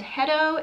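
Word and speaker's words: Hetto: testing out today is the brand hedo it's spelled h-e-t-t-o and i've obviously already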